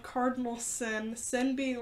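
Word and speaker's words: Syn: It's called Cardinal Sin. Sin being like the big word on it. It's spelled S-Y-N, not like Sin.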